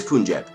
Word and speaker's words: Punjab: It is Punjab. Yeah! I still remember how to pronounce that nation!